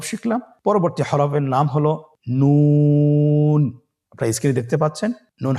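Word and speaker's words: نون: আপনারা স্ক্রিনে দেখতে পাচ্ছেন জিহ্বার আগা তার বরাবর উপরে তালের সঙ্গে লাগিয়ে উচ্চারিত হয়। আপনারা জিহ্বার আগাটা তার বরাবর উপরে তালের সঙ্গে লাগিয়ে উচ্চারণ করুন এবং আমার সাথে বলুন নুন।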